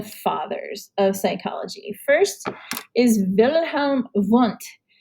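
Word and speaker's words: Wilhelm Wundt: of psychology first is wilhelm want you definitely have to pronounce the w's as v's that's how he's known it is german here's a nice little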